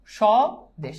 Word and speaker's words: স্বদেশ: ওকে, দেখো স্বদেশ বফলার উচ্চারণ নাই, আমরা জানি আদ্য বফলার উচ্চারণ নাই, তাহলে স্বয়ের সাথে বফলা যুক্ত হলে আমরা আগেই বলছি কি তালব্য হবে, তাহলে তালব্য স্বদেশ শেষ।